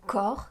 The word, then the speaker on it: corps: C'est pour ça que le mot corps s'écrit avec un P aujourd'hui parce qu'il vient du latin corpus.